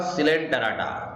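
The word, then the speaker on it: Coelenterata: मधील आहेत इथे बघा सिलेंडराटा किंवा याला निडारिया प्राणी असं सुद्धा म्हणतात सिलेंडेराचा स्पेलिंग बघा विद्यार्थी मित्रांनो सी ओ इ असलं तरी त्याचा उच्चार सी असा केला जातो आणि निडारिया याच्यामध्ये सी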